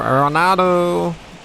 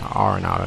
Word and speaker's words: Arenado: Saying his last name wrong. It's Arenado, not Arenado. So bases are loaded.